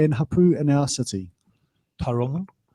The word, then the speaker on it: Tauranga: Tauranga. I used to say Tauranga when I was at school. That was terrible pronunciation.